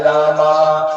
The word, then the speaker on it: राम: वाला करो 10 हरे राम हरे राम राम राम हरे हरे हरे कृष्ण हरे कृष्ण कृष्ण हरे कृष्ण है हरे राम आज बो हरे रामा हरे रामा रामा नहीं है राम है कृष्णा हरे कृष्णा कृष्णा